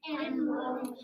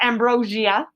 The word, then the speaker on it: ambrosia: Ambrosia. Often pronounced ambrosia as well, where you get the I in there, ambrosia.